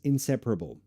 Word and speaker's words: inseparable: How to pronounce inseparable. So, oh, really? Okay. Okay. The problem is probably in pra. Insepara? No. Inseparable. Inseparable. Inseparable. Inseparable. You can also use a glottal stop. That would help.